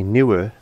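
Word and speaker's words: Neewer: These are by Newer, which is, it's spelled N-W-E-R, Newer Lights.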